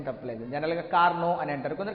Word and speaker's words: Carnot: I will not pronounce the T. కానీ name కాబట్టి, noun కాబట్టి నువ్వు ప్రొనౌన్సియేషన్ ఏం తప్పలేదు. జనరల్గా కార్నో అని అంటారు, కొందరు కార్ నాట్ అంటారు.